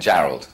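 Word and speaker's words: Jarrold: it for Me Julian Gerald okay it is like it sounds I was like you know that looks like Gerald but I don't caral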